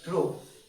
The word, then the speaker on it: trough: Spelling क्या है, लेट me check, TROUGH, ROUGH, ये ट्रो।